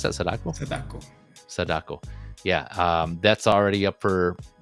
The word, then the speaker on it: Sadako: Is that how you pronounce that? Sadako.